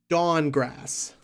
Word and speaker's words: Dankgrass: But it's pronounced Dawngrass.